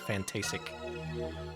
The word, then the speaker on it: Fantasic: is not a typo there is no t in the way they spell fantastic and if you look at the katakana it is actually pronounced fantasic that's also a big